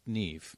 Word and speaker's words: Niamh: understand how it's pronounced, Niamh. Yes, correct. Where are you from? I'm from Ireland. I so see. In Ireland, we pronounce N-I-A-M-H as almost like. So the M-H becomes a V, and so therefore you get that weird sounding name.